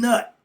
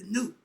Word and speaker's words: Nut: The N-U-T, the U is spelled like a O. Okay, like the O sound. So it's Newt and Nut, not Nut. It's Newt.